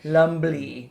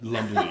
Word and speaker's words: Lumbly: Lumley. Lumbly. Yeah, There's a B in there.